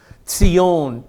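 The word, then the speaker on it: ציון: Tzion, T-S-I-O-N is the Hebrew pronunciation, Tzion.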